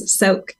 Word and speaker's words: Soaak: Yes, Soaak. As in, okay, You're soaking in your bathtub.